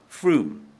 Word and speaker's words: Frome: "So, Miss Frome, it rhymes with plume, Froome, but please call me Serena."